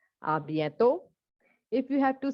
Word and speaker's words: à bientôt: Not à bientôt. T will not be pronounced. It is à bientôt.